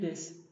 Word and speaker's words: です: Erkekler des yapısını desu diye telaffuz etmiyor. Sondaki u'yu atıyor. Des diye telaffuz ediyor. Ama kadınlar bazı durumlarda desi desu diye telaffuz edebilir.